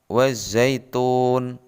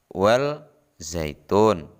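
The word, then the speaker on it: والزيتون: berikutnya terdapat pada lafadz wazaitun perhatikan tanda merah ada huruf alif dan lam bertemu dengan huruf Zai atau ZA cara membacanya bukan well zaitun sama huruf alif dan lam dihilangkan bacaan berikutnya atau Tajwid yang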